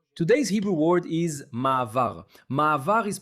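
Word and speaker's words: מעבר: Ma'avar is pronounced just like that, ma'avar, okay?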